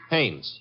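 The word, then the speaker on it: Haines: Hannes. H A I N E S. Ah. Oh, Hannes. Yeah. Do you know him? Well, there's a fell named Hines used to fish. No, no, no, not Hines.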